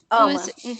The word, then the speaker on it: UOMA: You can find it online at, how do you say, Oma Beauty? Oma. Oma Beauty. It's spelled UOMA.